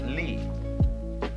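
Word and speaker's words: 理: universe which is this they pronounce it Lee now this sign has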